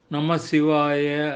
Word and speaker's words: நமசிவாய: வந்து விளக்க முடியுமா நன்றி நமசிவாய அப்படின்றதுதான் சரியான உச்சரிப்பு சரியான வார்த்தை பிரயோகம் அதாவது சிவனை வணங்குகிறேன் அப்படின்னு